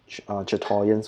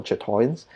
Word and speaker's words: chatoyance: So it's Chatoyans or Chatoyans. I don't know how to pronounce it. Chatoyance. Yeah. I think it's Chatoyans, right? Yeah, Chatoyans.